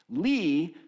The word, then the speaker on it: Li: I think you would pronounce it Lee if someone knows better.